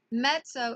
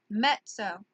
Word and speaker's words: mezzo: medium size in Italian that M would be met so okay it is spelled M e ZZ o met so so that comes from the double Z alright in Italian when there are two Z's back together back to back then it makes the